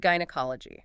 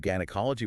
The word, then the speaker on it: gynecology: And in the German language, they pronounce their Gs hard regardless of the following vowel.